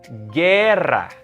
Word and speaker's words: guerra: Examples are guerra. You notice that? I didn't pronounce the U. It's silent.